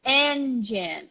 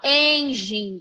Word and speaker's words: engine: l24 search engine engine the stress is right here on the first syllable n and look at our friend and one more time search engine search engine not Angie or angel something like that and I also brought